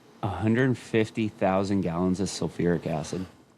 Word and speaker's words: sulfuric: Sulfic acid. I'm saying it wrong. Sulfuric acid. Sulfuric acid.